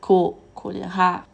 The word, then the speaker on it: choléra: Mais attention au mot chrétien, chlore et choléra, qui se prononce avec une K.